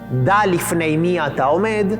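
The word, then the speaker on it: דע לפני מי אתה עומד: que se lee aquí, que en hebreo se pronuncia como Da lifnei mi ata omed, y que significa uno debe saber ante quién está parado.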